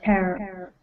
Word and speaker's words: tear: So I'm thinking of an animal that, and the word for the animal rhymes with tear. Shirts? No, so it has. So when I say rhyme, so like rhyming would be cat, mat, hat. Yeah. There's only one sound that differentiates them. So think of an animal Bear. that rhymes with bear.